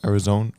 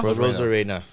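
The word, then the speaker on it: Arozarena: Arizona? Rosarena? Rosarena.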